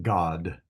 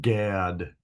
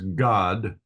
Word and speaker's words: Gad: uh God uh and this is pronounced as if it was a kind of a o sound uh God uh not Gad as as we would say in English so it's God where Zion Hai Shi